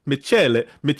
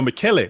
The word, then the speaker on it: Michele: His name is Michele Semino. Michele. The CH is the Michele. No, Michele. Michele. Michele Semino.